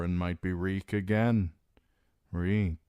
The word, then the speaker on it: Reek: Reek Reek, it rhymes with sneak.